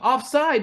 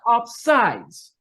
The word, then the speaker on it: offside: So I called the page Offside because that's how you say it. Right. It's not offsides.